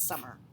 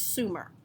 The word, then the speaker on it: Sumer: It's not summer. It's one of those lovely autocorrects. It's Sumer. Okay, how do you spell it? It should just, I'm sorry, it should just be Sumer, one M.